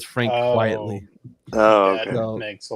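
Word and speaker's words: Frank Quitely: I call him Quitelli, but they say his name Frank Quietly.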